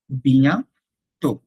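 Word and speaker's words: bientôt: যদি আমি বলি আ বিয়ান্ত, সি ইউ সুন, বিয়ান্ত মানে হচ্ছে সুন, বিয়া তো, বিয়া তো, নট তোত, বিয়া তো, আ বিয়ান্ত।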